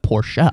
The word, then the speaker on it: Porsche: big car guy and if I would be like oh it's a poor he's like poor shot cause it was the